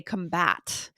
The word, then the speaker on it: combat: to know we say combat right which is to prevent or to stop something so take note guys the pronunciation the emphasized syllable does change between the noun and the verb so if that's the